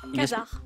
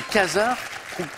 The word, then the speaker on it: quasar: Quasar. Ah oui, Quasar. exactement. Alors, j'apprends que les quasars, qu'on peut prononcer de 2 façons. Quasar ou quasar. Les 2 sont acceptés.